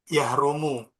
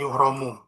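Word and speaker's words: يحرم: Yahrumu. Kalau haram yahrumu, bukan yuhromu. Kalau wajib yajibu, enggak majhul. Nggak yujibu itu, Tat.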